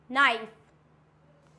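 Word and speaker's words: knife: आता है हमारा के के साइलेंट कब होता है एन से पहले आया तो के साइलेंट होगा अगर एन बाद में है के पहले है तो के हो जाएगा वहां पे साइलेंट फॉर एग्जांपल नॉक बोलते हैं ना नॉक नॉक तो क्या हो जाएगा नॉक नीड नाइफ नेक्स्ट होता है नो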